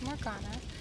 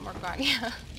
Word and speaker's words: Morgiana: It's Amber, and we're back with some more of Mysteries and Nightmares Morgiana. And I'm sorry, I was calling it Morgana.